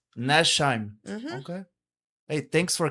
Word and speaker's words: Nachtsheim: But anyways, I pronounce it Nachtsheim. Nachtsheim.